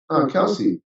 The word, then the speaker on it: Kelce: Are you nicknaming him Kels, or are you pronouncing it Kels? Kelsey.